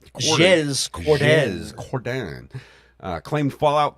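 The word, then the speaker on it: Jez Corden: Earlier this month, Windows Central executive editor Jez, I guess, Jez, is that how you pronounce that? Jez Cordan.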